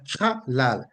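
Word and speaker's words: חלל: And that is pronounced halal. Halal. Again, the H being double there shows that there should be an emphasis on the H. So it's halal, halal, halal.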